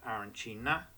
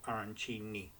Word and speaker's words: arancini: So the pronunciation is either Arancina or Arancini, and you'll never get two people to agree.